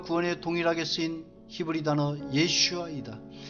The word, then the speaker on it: 예슈아: 그 히브리어 단어는 도움과 구원에 동일하게 쓰인 히브리 단어 예슈아이다. 이 발음은 예수님이 히브리어 이름과 같다. 하나님께서 가브리엘 천사를 통하여 지어주신 예수님의 올바른 히브리어 이름과 발음은 예슈아이다.